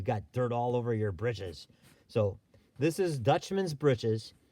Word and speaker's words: breeches: pants on a clothesline the real name for them is dutchman's britches breeches now they spell it breaches even though we've changed the word in modern use to bridge which is like bridges what kids would